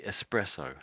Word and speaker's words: espresso: So, but the at the end is we normally say espresso.